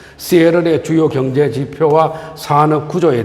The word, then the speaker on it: Seattle: 그 다음에 이제 시애틀은 우리나라 사람들은 시애틀이라고 하지만은 미국 사람들 발음은 T자 발음을 약하게 합니다. 그래서 시애틀을 시애틀이라고 이야기를 하죠. 시애틀의 주요 경제 지표와 산업 구조에 대해서 말씀을 드리겠습니다.